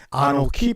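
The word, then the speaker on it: אָנֹכִי: 창조했다고 하지 않냐고 1인칭 내가 창조했다 하게 되면 아노키 바라 이렇게 표현할 수가 있습니다. 그런데 굳이 창세기 1장 1절은 3인칭으로 표현했습니다. 아노키 바라라고 하는 내가라고 하는 것은 뭡니까? 창조한 사람이 바로 나야라고 하는 나를 강조할 때 아노키라고 합니다.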